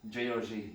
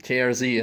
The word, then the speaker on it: JRZ: Well, first of all, finally, how do you pronounce it? GRZ or JRZ? JRZ. JRZ in English, okay.